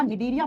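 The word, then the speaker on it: Cnidaria: देखो जब प्रोनाउंस करते है ना बेटा निडीरिया सी जो होता है वो साइलेंट हो जाता है बेटा। निडीरिया फाइलम निडीरिया फाइलम। हिंदी में सेम नाम है निडीरिया फाइलम। सी को आप साइलेंट कर देते हो प्रोनाउंस करते समय।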